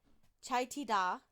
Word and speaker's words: Taycheedah: He was driving home from like one of his farms on his tractor in Taycheedah, which is how it's pronounced. I looked that up.